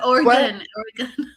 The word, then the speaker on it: Oregon: It's Oregon. Yeah. No, Oregon.